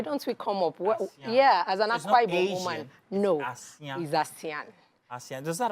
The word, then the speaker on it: Assian: um an IBU word is called a is pronounced asan so asan means um pH panash Elegance you